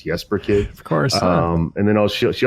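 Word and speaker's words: Jesper Kyd: talking about Jesper Kid, which I guess I'd been mispronouncing all this time as Jesper Kid. It's Jesper Kid.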